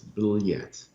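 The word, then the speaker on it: блять: which is which is blat yet and that means in russian it's b-l-y-a-t and it's hard to sort of get your head around how to pronounce it but it's bill yet yet they're really good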